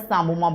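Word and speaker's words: psammoma: The calcification is known as samoma body. P is silent here. Sam samoma body.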